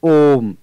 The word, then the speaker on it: ॐ: हम इसको बोलते ओम लेकिन जब इसके साथ में यह चिन्ह बना हुआ है तो यह अपने आप में पहचान है कि यह स्वर दीर्घ नहीं है यह पुत है और इसके उच्चारण में तीन मात्रा के बराबर समय लगाना है और इसीलिए आपने देखा होगा कि जब भी हम ॐ शब्द का उच्चारण करते हैं तो इसको बहुत लंबा बोलते हैं वह ओम इस